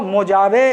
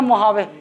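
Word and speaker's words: Mojave: अरे ये देखो मोजावे इसको पढ़ते हैं लेकिन जे साइलेंट है, मैं तुमको बता दूं, पढ़ते हैं उन लोग क्या पता मोहावे, मोहावे बोलते हैं, है ना।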